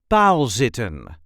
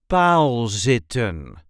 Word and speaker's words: paalzitten: This is the way we say palsitten palsitten. Try to have the long a sound in there.